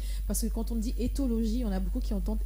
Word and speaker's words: Éthologie: Alors aujourd'hui, Joyce va nous parler de ethnologie, c'est ça? Éthologie. Etho. Oui. Ah, tu as écrit ethnologie. Éthologie. C'est pas moi. Aujourd'hui, j'ai bien prononcé.